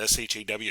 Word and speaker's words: SHA: algorithm and you see people pronounce that s-h-a-w Shaw uh versions of Shaw Shaw